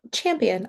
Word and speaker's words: Champian: Oh, champion. I think you said it right. Oh, yeah. Just like the the the winner.